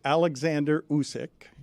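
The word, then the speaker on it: Oleksandr Usyk: or how to pronounce his name uh it's Alexander usk is how you pronounce his name yes and he is that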